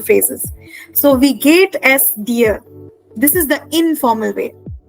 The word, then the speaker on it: dir: So wie geht es dir? This is the informal way. Now this dir, D-I-R, is like the English word D-E-A-R.